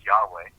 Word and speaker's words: Yahweh: more primitive, or Yahweh, who the name is pronounced as Yahweh, and there are no W's, and I just read that out of the dictionary from the 1700s by Johnson.